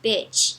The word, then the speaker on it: beach: Então a gente tem que lembrar que o I no inglês não tem a mesma pronúncia que o I no português.